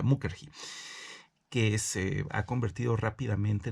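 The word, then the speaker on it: Mukherjee: sidarta eh mujeri eh Sí mukerji así así se pronuncia mukerji que es ha convertido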